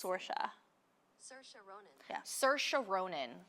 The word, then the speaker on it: Saoirse: I think it's Saoirse. Saoirse. Sorry, let me just find the correct pronunciation. Saoirse Ronan. Pronunciation. Saoirse. It's Saoirse.